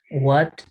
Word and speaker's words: what: Aquí pueden colocarlo como una R, pero what se pronuncia así, what, por sí sola. Si es que se une, ¿sí? A una vocal, por ejemplo, entonces puede sonar como una R, en este caso.